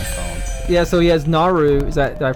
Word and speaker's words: Naru: back of my phone yeah so he has Naru is that did I pronounce that right yeah Naru Naru holding ory it's a it's engraved on